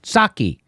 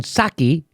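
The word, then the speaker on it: Psaki: it they asked jen saki you're not supposed to pronounce the p gensake which is what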